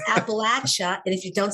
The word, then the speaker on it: Appalachia: It's not Appalachia, y'all. No. It's Appalachia.